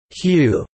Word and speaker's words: HU: of Prayer includes singing the word whoo which is pronounced as hue a holy name of